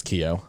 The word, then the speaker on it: Keough: is riley keough whatever how do you say her last name she's like an an actress yeah i don't i think it's keo oh yeah she was